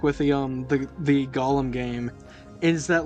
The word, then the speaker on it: Gollum: going to upset the Golem stands oh no the like negative one Golem stands are going to get me I love that you guys have been mispronouncing uh Gollum the entire time like that's just really